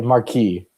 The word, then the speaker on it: marquee: I'm used to No, there's no No, you don't say the S on the end of it. I'm so Wait, is it not Marquis spelled E E? No, no, mar- marquee with an E E is the Americanized version of the French word.